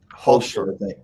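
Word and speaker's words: Hulscher: And let's just play the little video from Nicholas Hustler, who's been doing, I pronounce his name wrong, it's Holster. Holster.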